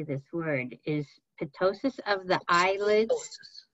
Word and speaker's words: ptosis: Is ptosis of the eyelids? Just silent P. Drop it. Silent P. Ptosis of the eyelids, a known sign or symptom in Marfan patients, and can ptosis of the eyelids impact vision?